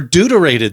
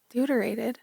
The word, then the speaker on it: deuterated: Now, that might sound like it's for dudes. Yeah. Or it's full of duty or something, but it's it's spelled deuterated like, you know, old Deuteronomy.